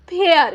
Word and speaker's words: FARE: ध्यान रखिएगा, किसी भी इंग्लिश के वर्ड में ए के बाद अगर आर ई रहता है तब इस ए का हम ए उच्चारण करते हैं।